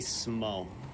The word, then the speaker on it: Smough: That would be Smo. Anyone that says anything besides that is a psychopath.